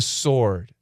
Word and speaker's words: sword: They sliced it and sampled it with a sword. Sword, S-W-O-R-D, the W is silent.